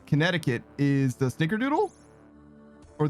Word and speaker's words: Connecticut: One of the C's in Connecticut is silent.